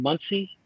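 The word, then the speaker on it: Monsey: brooklyn you know you got a store in muncie month indiana no it's spell it's actually spelled m-o-n-s-e-y oh monsig okay muncie we say muncie but well that's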